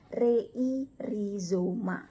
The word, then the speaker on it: rhizoma: Kemudian RH dibaca R. Contohnya rhizoma dibaca bukan rei dibacanya tetapi rhizoma. Jadi RH dibaca R. Jadi rhizoma.